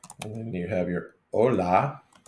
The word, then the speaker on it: hola: so you got your Ola in the H is silent yeah and then you have your Ola the H is silent um I was going